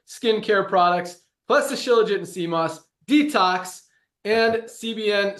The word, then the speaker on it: Shilajit: lot of people haven't heard of, it's actually pronounced Shilajit before, but it's freaking awesome. So what does it do? Awesome question. Shilajit it's standardized to basically a humic complex, which is trace minerals.